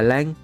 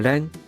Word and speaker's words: lan: Tiếng Việt gọi là lang, tiếng Nhật cũng gọi là rang.